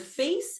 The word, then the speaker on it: face: and voicing the th in the word face it's making the a long and it's softening the C in the word brave